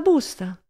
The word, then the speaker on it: busta: Comunque, già che son qua, le chiedo se ha la busta. Busta, bisillabo piano, accento sulla penultima sillaba.